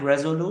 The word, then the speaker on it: Resolute: Do I pronounce it right? Resolute?